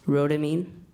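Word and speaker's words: Rhodamine: water ramine ramine am I seeing am I pronouncing it properly say it again please rodamine ramine yes rodamine r o d a m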